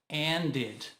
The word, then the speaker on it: ended: And. Termina com D. Acrescenta ED e fica ended. Lembra? Terminou com T ou D, precisa pronunciar o E.